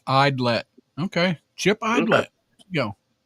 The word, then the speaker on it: Idlet: Pronounced Idlet.